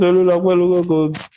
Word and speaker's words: Olukokun: You still pronounce that my name. Why? I'm not Yoruba. It's fine. My name is Olukokun.